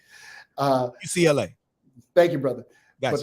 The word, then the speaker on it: UCLA: had to go to UNCLA. I might be saying it wrong. The university in LA. UCLA.